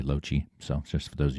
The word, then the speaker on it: Lochie: That's how you pronounce my name, by the way, Lochie.